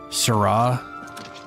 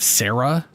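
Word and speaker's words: Sera: So, there's a thing they say in Morowind, Sarra, which is spelled S E R A, and that's how you pronounce it.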